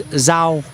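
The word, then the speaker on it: rau: that you're going to need to know is zho.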